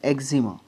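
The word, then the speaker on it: eczema: हमारा वर्ड है ई लेटर से वह है एग्जिमा एग्जिमा स्पेलिंग थोड़ा सा अजीब सा है ई सी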